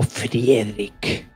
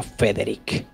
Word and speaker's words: Frederik: Deer es información verdad me llamo frederik no federik bueno es he sido